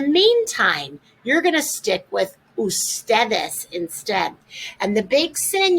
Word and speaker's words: ustedes: is the abbreviation ugs it's not pronounced uds though it's pronounced ustedes most people will abbreviate